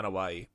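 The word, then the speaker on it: Anoaʻi: Is that how you pronounce it? Yeah, Anawahi.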